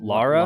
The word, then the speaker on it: Lara: it the hey satan british terms lara all right it's l-a-r lara croft yeah lara if you say laura my wife laura sounds like a kenjano game but she's the og